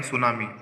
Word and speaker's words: tsunami: देखिए टी का कोई यूज़ नहीं है, यहाँ पर साइलेंट है टी, इसको पढ़ेंगे हम सुनामी। टी का कोई उपयोग नहीं आएगा क्योंकि साइलेंट है।